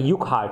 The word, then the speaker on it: Urquhart: Urquhart, अब देखो ये यू आर आर साइलेंट है इसमें, तो इसको युक वाई वो यू के एच ए आर टी यूकहार्ट बोलेंगे हम इसको, है ना।